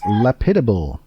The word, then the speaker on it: lapidable: also starts with an L, and it is lapidable. Lapidable. That is spelled LAPIDABLE, and it is an adjective.